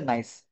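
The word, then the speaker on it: gneiss: উচ্চারণ হচ্ছে নাইস।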